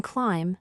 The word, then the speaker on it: climb: what about the word climb is the B at the end pronounced no in clim the B is also silent you say clim now